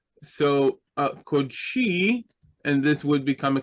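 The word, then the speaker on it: קָדְשִׁי: Right, a closed unaccented syllable. So we have the Kof and the Daled as one syllable, and the accent is on the last syllable. So Kodshi, and this would become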